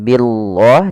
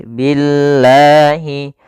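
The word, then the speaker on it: بِاللَّهِ: sebelumnya didahul harakat kasr maka di sini lamnya menjadi lam yang tipis lam tipis bukan lam tebal atau kita namakan lam tarqik maka membacanya bukan Billah tapi Billahi ya Billahi kaia takfuruna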